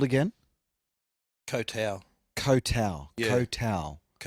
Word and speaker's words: Koh Tao: For all of August I was in Thailand playing on an island in Gulf there called Koh Tao.